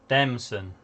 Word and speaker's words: Demson: How do you say his name, Morgan? Demson. Okay. Wow. I was Alright. gonna say it's not a Chinese meal. Dim sum. It's not dim sum.